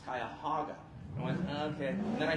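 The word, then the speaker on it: Cuyahoga: telling the mayor of Kyhoga Falls, we put Kyhoga Falls as an Easter egg in a lot of our other movies until I heard from one producer, you're mispronouncing it. It's Kayahaga.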